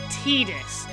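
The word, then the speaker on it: Tidus: and they said his name and they said teetus so officially his name is titus although I and many other people for years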